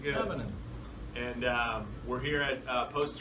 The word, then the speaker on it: Sanonen: And how do you like your last name to be pronounced? Do I say it? How do you like it? Perfect. All right, good. Sanonen.